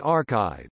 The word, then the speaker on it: arXiv: Archive, pronounced archive, is an online accessible archive for electronic preprints